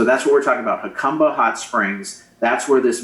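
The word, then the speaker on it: Jacumba: place where uh we're seeing the The Crossings hakuma Springs it's not pronounced jauma hakuma Springs Haka Hot Springs right here at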